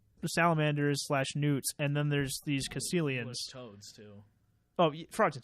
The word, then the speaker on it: Caecilian: Or Caecilians, I think is how you say it. Not Sicilians, Lord.